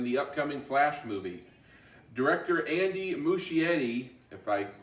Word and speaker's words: Andy Muschietti: ezra miller in the upcoming flash movie director andy muschietti if i pronounce that right posted his video call with